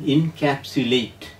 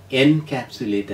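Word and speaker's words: encapsulate: എൽ എ ടി E pronunciation ഇൻകാപ്സുലേറ്റ് എന്നാണ് എൻകാപ്സുലേറ്റ് എന്നല്ല ടു put main facts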